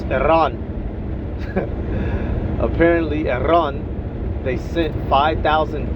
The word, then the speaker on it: Iran: Apparently Iran, you got to say it right. Don't say Iran. Hood uh uh un uncultured folks say Iran. It's Iran.